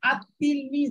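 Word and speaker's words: التلميذ: এই লামটা থেকে যাবে, যে লামটার কোনো ভ্যালু থাকবে না, ভ্যালু মানে উচ্চারণের কোনো ভ্যালু থাকবে না, নামটা উচ্চারণে আসবে না, শুধু লেখায় আসবে, পড়ায় আসবে না।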